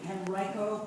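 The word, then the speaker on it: Henrico: educational leadership he uh worked in the henrio pronounce it henrio henrio public schools in the Richmond area he was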